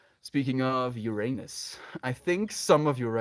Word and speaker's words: Uranus: Like, I'm kind of like leaning into this way of pronouncing it, and I could have kind of ruined the whole joke with the way that I actually say the word as Uranus. It's Uranus. That's how I said it in China as well.